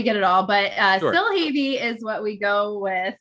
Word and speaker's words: Silhavy: pronounce your last name for me because i pronunciation is not my strong suit yeah i mean we get it all but uh still heavy is what we go with um but we